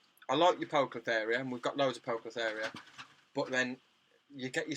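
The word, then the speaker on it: Poecilotheria: She pronounces it Poeclotheria.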